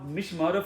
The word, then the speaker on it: Mishimoto: There is a Mishimoto for this one. It's that's the brand. That's how you pronounce it.